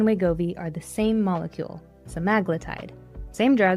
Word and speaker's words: semaglutide: me in the comments, I've heard semaglutide pronounced about six different ways. Semaglutide, semaglutide. I'm sticking with semaglutide because it sounds confident and I fully accept that someone will tell me I'm wrong. Cool.